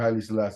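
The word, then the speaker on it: Haile Selassie: Imperial Majesty Emperor Haley Salassi. Thank you. Imperial Majesty again Emperor Hi Salassie.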